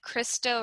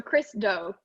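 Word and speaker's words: Chris Do: I know earlier in your presentation you said Christo Run the Future. What is that? Oh my gosh. So Christo. Christo. I was saying Christo. Christo. His first name Chris, last name Doe.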